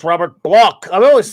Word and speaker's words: Bloch: He says it's Robert Bloch. I've always said Bloch, but I mean, maybe he pronounces that way.